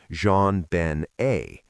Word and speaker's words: JonBenét: And their daughter, JonBenét, born August 6, 1990, named partly after her father in a French pronunciation, JonBenét, was by everyone's account